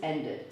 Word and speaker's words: ended: Whereas in the verb want and the verb end, both words end in T or D, then we do pronounce this ending like that.